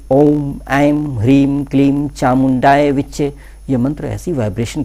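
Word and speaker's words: ॐ ऐं ह्रीं क्लीं चामुण्डायै विच्चे: जो करने के लिए मैंने बोला है कि ओम एम भ्रीम कलीम चामुंडाए विच्चे यंत्र ऐसी वाइब्रेशन के साथ आपको शुद्ध उच्चारण आज गलती नहीं होनी चाहिए ध्यान रहे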